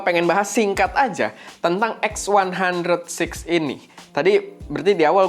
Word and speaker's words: X100VI: fujif film X100 VII atau dibacanya V mungkin ya tapi yang gua dengar sih bacanya yang benar adalah x106 gitu ya Dan kita bakal